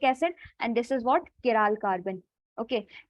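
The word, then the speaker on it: chiral: molecule you have cat आप इसको pronounce करते हो तो केरल आपका वो होता है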